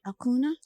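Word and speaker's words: Acuña: I pronounce this right Akuna Akuna in this part of the world Akuna Akuna mhm yes uh so in South America right in South America that's how they pronounce it yes because when Adriana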